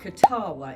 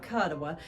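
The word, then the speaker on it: Kuttawa: It it can certainly be mispronounced. And while we're on that, there's part of Kin Lake in a town called Katawa. It's not Kadawa.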